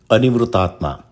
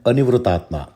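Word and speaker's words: Anivṛttātmā: It also can be interpreted as anivrūtātmā. This name can be pronounced in two forms, nivṛttātmā and anivrūtātmā.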